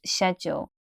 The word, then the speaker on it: schedule: remember about this word schedule so the first syllable is the same word as shed which is a small construction in your garden a place where you keep your tools the second syllable you'll this is a contraction